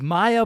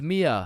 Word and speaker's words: Mia: Wait, what the Maya, is is Maya present? Uh, it's it's Mia.